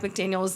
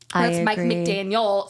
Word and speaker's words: McDaniel: I do think Mike McDaniels needs to figure something out Mike McDaniel sorry we talked about this